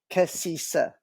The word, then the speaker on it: Cassisa: You actually pronounce it the same way that it's read and spelled. Cassisa.